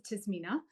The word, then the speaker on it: Tasmina: Adam and Kate I'm gonna start with the pronunciation of my own name which is tmina um am and Shake but definitely I know